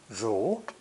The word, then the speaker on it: 如: This character is pronounced second tone, 如, 如, and basically represents a woman listening to and following a spoken order.